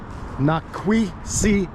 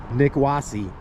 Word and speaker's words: Nikwasi: This mound here was originally called Nikwasi, but white people couldn't pronounce Nikwasi, so they called it Nikwasi.